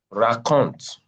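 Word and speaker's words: racontent: the ENT in the verb conjugation is not pronounced.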